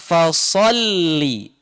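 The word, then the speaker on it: فَصَلِّ: Perhatikan yang kalimat pertama, fasalli, sod, ya, sod, so, bunyi tebal juga, termasuk huruf isti'la seperti huruf to, tebal. So, baso, bukan baso, tapi so, tebal. Pangkal lidahnya terangkat, lidah belakangnya terangkat. So, ya, ujungnya menjulur, ya.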